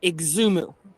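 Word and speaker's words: Xumo: And they say it's pronounced Exumu.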